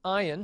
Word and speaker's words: ayin: Ayin is also a silent letter. Again, they pronounce it in Arabic today. And the way one person describes the pronunciation of an ayin is incipient vomiting. And indeed, it does sort of sound that way to us. It's an ayin. It's real deep down in the throat as you pronounce it.